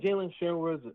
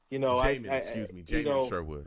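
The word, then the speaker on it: Jamien Sherwood: Jamin Sherwood, man, Jets re-signed him. How do you feel about that? I think Jalen Sherwood is a great player. I think he has a lot of talent. Jamin Sherwood.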